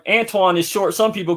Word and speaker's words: Antoine: Like, even when I met you, with all due respect, you know, everybody mispronounces my name. I've been called Anthony, Antoine, sometime, but Antonio, Antone, right, Anthony, Anthony. Right. Pronounce it. It's Antoine. Antoine.